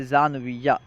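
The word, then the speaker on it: ژانویه: تلفظ کیا ہے، دیکھیں۔ جنوری، جنوری کا فارسی تلفظ ہے زانویہ، جنوری، زانویہ۔ فروری، فروری کا فارسی تلفظ ہے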